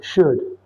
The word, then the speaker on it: should: It is should. Should should for the pronunciation the L is silent.